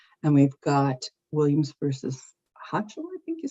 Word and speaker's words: Hochul: And we've got Williams versus Hochul, I think you say her name. Hochul.